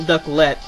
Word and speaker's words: Ducklett: guess that's okay too is it duckling or ducklit because i pronounce it ducklett to emphasize the second syllable but we should need